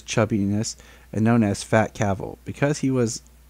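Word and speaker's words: Cavill: His last name is Cavil, pronounced like travel.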